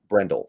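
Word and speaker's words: Brendel: did I say his name right Jake Brendle Brendle there we go they have a berford too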